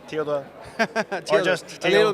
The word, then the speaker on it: Theodor: Theodor, did I pronounce it well? Yeah, perfect. Okay. Theodor. Theodor. Or just A Theo. little bit Theo, that's more common.